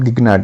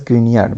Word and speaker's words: Grignard: get mgi please remember it's not gnared it's called as grignard because it is named after german scientist so we have two